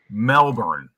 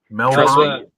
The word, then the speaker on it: Melbourne: Melbourne. Is that close? Melbourne. Trust me, living only an hour from Melbourne, hearing people mispronounce it just drives me nuts.